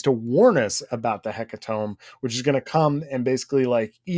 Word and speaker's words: Hecatomb: How do you say Hecatomb? Hecatomb? It's gotta be Tomb.